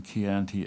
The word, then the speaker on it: Chianti: My friend William Culduthel, the English vintner in Italy whom you called an imitation Italian because he pronounced the CH in Chianti as the SH in sherry.